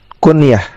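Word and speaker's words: كنية: Kunyah. Perhatikan cara bacanya. Nunnya di sukun, ya di fathah.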